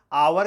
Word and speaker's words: hour: आवर के पहले एन ही लिखा जाता है, क्योंकि आवर को हावर नहीं पढ़ा जाता है, उसका उच्चारण आ होता है, वाबेल से होता है।